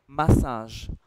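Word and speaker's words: massage: तो हम इसको पढ़ेंगे मसाज मसाज ट्स how you'd read it and this मसाज ट्स मा एंड साज मसाज is what you would say और इस शब्द को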